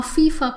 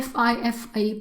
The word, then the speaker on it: FIFA: word for example a fifa player player you never say a fifi player but you say a fifa player fifa goes together so it's an abbreviation that is spoken as a single word and hence you can